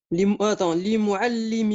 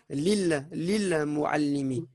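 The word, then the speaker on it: للمعلم: Li mu'allimi, excuse-moi. Voilà, et essaie de prononcer le lam qui a juste là. Ici, il y a un sukun, donc ça donnera lil mu'allimi.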